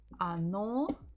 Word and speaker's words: Оно: Оно дерево. Оно. Stress on the second O.